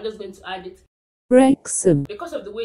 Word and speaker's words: Wrexham: Wrexham. Because of the way it's spelled, a lot of people don't know how to pronounce it.